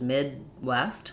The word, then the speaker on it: Midwest: That difference would be Midwest, my vowel just keeps going, versus Midwest, like you mentioned, using an unreleased D, stopping the air, and then restarting for the W of West is how we would actually do that.